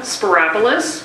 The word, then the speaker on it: Spyropoulos: the speaking opportunity so my name is sparis one of those easy Greek names that rhymes with Metropolis here you go and